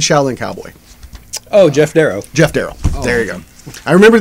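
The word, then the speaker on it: Geof Darrow: you go I remember there was somebody who's come in the shop that always pronounced his name wrong and I couldn't remember what it was and he used to call him GI off daro and I never corrected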